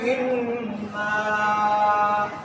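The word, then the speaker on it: إِنَّا: সেটা ইনশাল্লাহ আমরা পড়ার চেষ্টা করবো এখানে প্রথমে ইন্না ইন্না টার্ম হবে প্রায় আপনারা তিন পরিমাণ টার্ম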